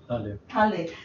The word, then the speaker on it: Halle: Is it Halle or Hall? Halle.